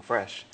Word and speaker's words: Phresh: Oh, it's spelled P-H-R-E-S-H. And so we just, we wanted something different. We wanted to be like phonetically correct about it, but it's something that